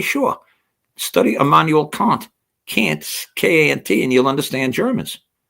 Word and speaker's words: Kant: Kant, K-A-N-T, and you'll understand Germans. If they pronounce it Kant, but it's K-A-N-T, you'll understand how I think.